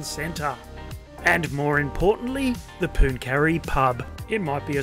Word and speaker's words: Pooncarie: absolutely magic as we head to pun Cary or punon carry however you pronounce it yes however you pronounce it and it is pronounced pun carry that's where we were